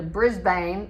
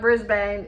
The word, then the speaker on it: Brisbane: And then when you get down to Brisbane, it's not Brisbane, it's Brisbane.